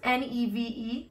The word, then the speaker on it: Niamh: So Neve is my mom's name. Mm-hmm. It's pronounced N-E-V-E, like rhymes with Steve, mm-hmm.